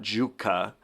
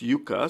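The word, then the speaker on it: Jukka: wrote in the comments it's not Juka it's Yuka so hopefully that's correct and it's Yuka I'll pronounce it correctly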